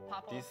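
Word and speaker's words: 바보: So Babo. This word is your team give to Babo? Kill to enemy. You say Babo. Stupid guy. Babo. Okay. Babo. Babo. And Mongchungi also Babo.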